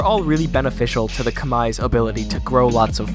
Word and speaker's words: Khmer: the oncoming climate apocalypse the khmer empire or pronounced correctly is the kamae empire was a state of